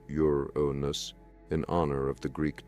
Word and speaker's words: Uranus: to endure astronomers subsequently designated it Uranus pronounced yonus in honor of the